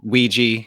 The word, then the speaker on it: Ouija: Ouija I think that most people call it a Ouija because like like it rhymes with squeegee but I say Ouija yeah yeah so um